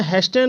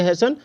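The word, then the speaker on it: hasten: है ठीक है तो इसमें हेस्टन नहीं बोलेंगे इसको फेच नहीं बोलेंगे इसको बोलेंगे हेसन जैसे बहुत सारे बच्चे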